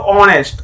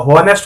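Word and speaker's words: honest: हालांकि ये एच से लिखा हुआ है, लेकिन यहाँ एच साइलेंट है, यानी कि एच का उच्चारण यहाँ होता ही नहीं है। इसको बोलते हैं हम लोग ऑनेस्ट, ऑनेस्ट यानी कि एच का उच्चारण नहीं, एच का यदि उच्चारण होता तो हॉनेस्ट हो जाता, ठीक है ना।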